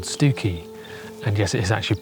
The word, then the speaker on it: Stiffkey: set off to and it's a place called stuki and yes it is actually pronounced that way even if it is spelled